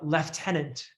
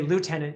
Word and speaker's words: lieutenant: when you were talking you said the uh lieutenant right you didn't say lieutenant like we would say down here yes so you'd use the british pronunciation uh when versus those